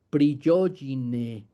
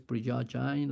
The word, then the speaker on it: Prigogine: Entonces seguimos con esta idea del universo como un acto creativo y hubo un científico maravilloso, Ilya Prigogine, no sé cómo se pronuncia realmente, yo creo que él es como de Europa Oriental.